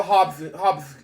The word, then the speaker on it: Hopkinson: Hobskin, okay.